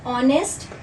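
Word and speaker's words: honest: जैसे बीना इज़ एन ऑनेस्ट teacher. एक silent है। अ का साउंड निकल रहा है इसलिए हम इसे इसके साथ एन लगाएंगे।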